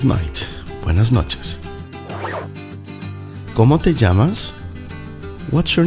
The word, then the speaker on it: llamas: ¿Cómo te llamas? What's your name? ¿Cómo te llamas? The double L is pronounced as a J, llamas.